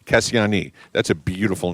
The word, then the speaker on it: Kassiani: Now, Cassie is short for, you have to pronounce her name for me. Kassiani. Kassiani.